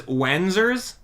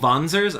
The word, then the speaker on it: Wanzer: Wanzers? Oh, Vanzers? I'm sorry. they pronounce it Vanzer.